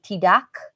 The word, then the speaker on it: tidak: Yeah, that's why you hear a lot of bules learning Bahasa Indonesia saying tidak.